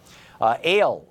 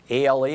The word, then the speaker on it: Al: Ale in Tallahassee, Florida. Hey, Ale, what's up? A-L-E, am I saying it wrong? Is it Ali? Ale? Al. Al? Oh, Al. A-L, I'm sorry.